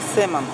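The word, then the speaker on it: salmon: Л не читается. Читается как сэмон.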